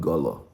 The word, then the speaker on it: Igolo: Gọlọ̀ is spelled I-G-O. Igolo. I-G-O-L-O. But it's a French, so they drop the first I in front of the word, so they just call it Golo.